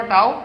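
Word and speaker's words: τ: উচ্চারণ করবা টাও।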